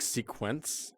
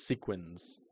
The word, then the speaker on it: sequins: arts and crafts Camp are you saying sequence are you trying to say sequins sequence this is a Roxy Andrew moment everyone wins a sequence you're saying sequence sequence it's sequins how do you spell